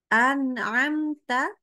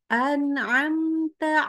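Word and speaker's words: أنعمت: banyak banget ya ni harus hati-hati anamta alaihim jangan jadi an'amta alaihim ya itu tidak boleh apalagi yang Hamzah lalu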